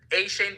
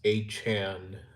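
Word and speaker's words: Achane: A-Shane being on the list is accurate. It's actually pronounced A-Chan, from what I've heard.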